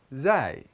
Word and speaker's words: ز: The next letter is Zai. Zai makes a Z sound. Z like the word zauj, which means spouse, or the word zujaj, which means glass. Let's say it together. Z, zai, ez.